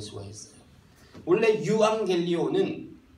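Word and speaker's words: εὐαγγέλιον: 유앙겔리온. 유앙겔리온. 네, 유앙겔리온이라고 해요. 이게 라틴어 영어로 좀 번지면서 발음이 바뀌어서 에반겔리온이 되고, 보통 복음주의다 하면 뭐 에반겔리즘, 복음 전도 그런 식으로 되는 겁니다.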